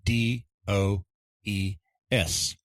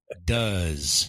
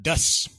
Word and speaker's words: does: say after me please does and it's not dust it's does oh that's right there is kind of a z sound a z sound at the end instead of an S sound okay I hadn't thought